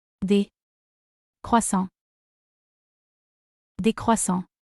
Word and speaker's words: des: But to say croissants in plural, we say Des croissants. Des croissants. in French the letter S at the end of day is not pronounced, is only pronounced when the next word starts with a vowel.